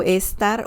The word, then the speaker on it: esta: There's a subtle difference of pronunciation with esta and está.